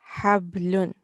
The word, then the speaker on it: حبل: And this is from our throat. Hablun.